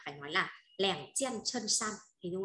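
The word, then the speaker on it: 衬衫: Áo sơ mi đọc là chân san, cho nó có từ áo sơ mi ạ, đọc là chân san.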